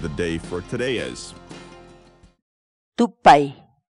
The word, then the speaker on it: tupay: series videos where we teach you how to pronounce certain words in Quechua. So our word of the day for today is tupay. Tupay.